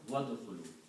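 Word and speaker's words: وَادْخُلُوا: Word is udkhulu, but when you combine with the waw, you do not pronounce alif. Just like it in here. Qul nadkhulu wadkhulu.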